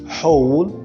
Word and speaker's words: whole: WH in these following words are to be pronounced as who and not we. So we said who and not who. We say whose, whole, and whom.